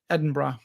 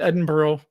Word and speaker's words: Edinburgh: We booked our flight, some hotels and experiences in London and Edinburgh. Is how they say it. Edinburgh, not Edinburgh.